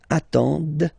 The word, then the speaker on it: attendent: at the plural form, ENT, but then you don't pronounce them. Ils attendent, okay, so remember you get to pronounce this, d at the end, okay.